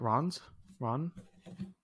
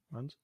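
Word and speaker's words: Rennes: Rons? Runs? Oh, we got to make sure we're pronouncing this right for our viewers. Okay, he's at Rons.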